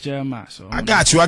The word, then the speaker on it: Jeremih: uh no a still for the non pronouncers Miss spellers okay uh it's just Jeremiah so I got you